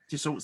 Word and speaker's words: Dassault: So was it, I don't know how to pronounce, Dassault Systems? Yes. Dassault Systems.